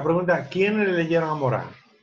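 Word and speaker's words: Morin: La pregunta, ¿quién le leyeron a Morán? Morán, que se pronuncia. Sí, en francés, sí. Él dice muchas veces, él hace que le diga Morín. Pero él queda Morán.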